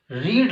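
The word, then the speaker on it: read: रीड को पहले रीड बोलेंगे, फिर रेड बोलेंगे, फिर रैड बोलेंगे। तो यहां पर वर्ब की कौन सी फॉर्म लगानी दोस्तों, हमेशा थर्ड फॉर्म लगानी।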